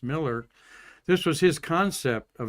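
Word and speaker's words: Mueller: a bureaucratic uh person spelled mue l but pronounced Miller.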